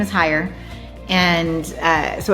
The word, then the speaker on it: Heyer: Well, our last name is hire and uh so it's kind of a play on words there. Most people don't get that part of it cuz it's spelled higher, but it's pronounced higher.